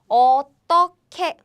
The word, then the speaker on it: 어떻게: So they are pronounced like 어떻게.